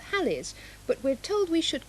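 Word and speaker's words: Halley: business in preparation for what some people call Haley's and other called hallies but we're told we should call holy comment Paul is Comet yes that is the correct pronunciation was first seen in the year 240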